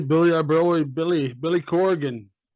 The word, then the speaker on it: Corgan: I really Billy Billy Corgan Corgan two syllables not core again I always hear that